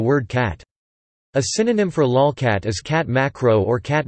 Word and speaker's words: lolcat: A lolcat, pronounced lolcat, is an image macro of one or more cats.